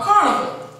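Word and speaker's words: Carnevale: These festivals are sometimes called carnival, spelled C-A-R-N-E-V-A-L-E, pronounced Carnival.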